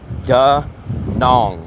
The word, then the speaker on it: Da Nang: You guys think they say Da Nang, but what I hear is Da Nong, like that rhymes with Hong Kong.